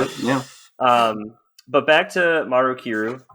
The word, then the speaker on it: Maru Kiru: But back to Maru Kiru, right? Did I got it right again? You did, yeah.